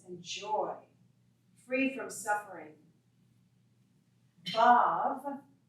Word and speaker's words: Bhav: Bhav, B-H-A-V, Bhav, is the divine mood or the state of unified existence.